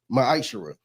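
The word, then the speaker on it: מעשר: chapter 3 verse 8-10 means 10th in Hebrew and is pronounced maisher 10% of every penny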